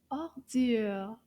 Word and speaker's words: ordure: The word for garbage is ordure. Ordure. Combien de syllabes dans le mot ordure? Ordure. Deux syllabes.